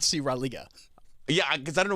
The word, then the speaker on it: Raleigh: You mean Raleigh? Raleigh. Oh, okay. Close enough. That's how you say it? How you say it again? Raleigh. You for real? Yeah. But it's spelled R-A-L-E-I-G-H. Raleigh. That's Raleigh. Close enough.